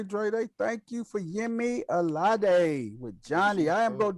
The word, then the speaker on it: Alade: Johnny y'all check out Johnny by Yemi Alade. I think. The people at work used to let me call them Aladi. So I don't really, but she pronounces it Alade.